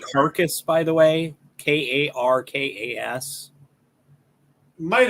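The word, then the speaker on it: Karkas: one i'm thinking of i always thought it was krakus but it could be carcass it is k-a-r-k-a-s so carcass sure he could be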